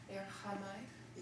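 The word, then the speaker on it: ἔρχομαι: Erchomai. Yep, just make that omicron a short O sound. Erchamai.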